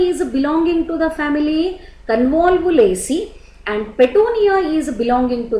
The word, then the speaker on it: Convolvulaceae: One is Convolvulaceae, pronunciation Convolvulaceae.